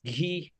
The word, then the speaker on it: ghee: a place for improvement ge e is pronounced ghee not g that's the only place